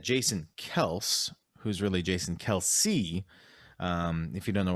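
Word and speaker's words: Kelce: talking about uh travis kelsey came out and said uh a while back that his name's actually kels and it's just everyone's been mispronouncing it forever but we still call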